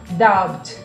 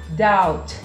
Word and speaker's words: doubt: E muita gente pronuncia, né, com essa questão da gente pronunciar todas as letras, quer pronunciar o B na hora de falar, tá? Então, na hora que ela vai pronunciar a dúvida, fala doubt, doubt, com esse B aí. E não existe o B, na verdade, você vai tirar ele e vai ficar doubt, doubt, doubt.